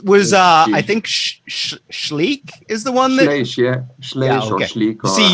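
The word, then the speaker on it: Schleich: kid too that was uh i think sh shleek is the one there see you're no you're pronouncing it correctly i'm totally proud i'm ruining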